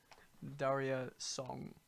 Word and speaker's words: Daria Song: Daria Song. How do you, and it's spelled DARIASONG Like diarrhea. minus many letters.